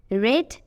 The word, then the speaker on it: read: তাহলে READ থাকা সত্ত্বেও এখানে উচ্চারণটা হয়েছে রেড। লাল রং ইংরেজি যেমন রেড, ঠিক এরকমই উচ্চারণ হয়েছে, কিন্তু বানানটা দেখো প্রথম বাক্যে ছিল যা, সেকেন্ডটাতেও তা, READ, কিন্তু প্রথম বাক্যে আমাদের উচ্চারণটা হয়েছে রিড আর সেকেন্ড বাক্যে রেড। তাহলে এই ভার্বটা যখন প্রেজেন্ট ফর্মে থাকবে তখন হবে রিড, পাস্ট ফর্ম এবং পাস্ট পার্টিসিপলে রেড। তাহলে রিড, রেড, রেড।